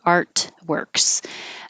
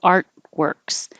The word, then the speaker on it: artworks: And artworks, I don't pronounce that T artworks because it takes time. So I put my tongue in the T position, art, and then immediately make my W, artworks.